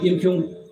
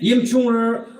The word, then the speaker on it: Yimkhiung: the ceremonial declaration of YIMKHIUNG Naga tribe. Literally, the name Yimchunger or Yimchunger is a mispronunciation or misspelled word.